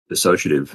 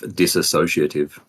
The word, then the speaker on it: dissociative: in the best ways well done for pronouncing that correctly by the way which one dissociative as in instead of disassociative oh yeah well because it's not that's not the word yeah it's not it's